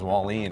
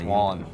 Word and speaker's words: Wallen: But and by the way, it is Jake Wallen. A lot of people like around the state have like these various pronunciations. Wallen, it's Wallen.